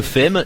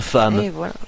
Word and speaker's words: femme: On dit pas une fême, c'est une femme.